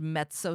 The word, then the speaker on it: mezzo: and it's also called mezzo soprano also you when you guys see it it's written as meso but it's like pizza this is the way you pronounce it in Italian mezzo so just realize that's